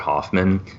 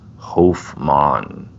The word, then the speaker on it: Hofmann: the story by saying everyone calls him Albert Hoffman but the name is actually pronounced home on it's really unfortunate I'm gonna call him Albert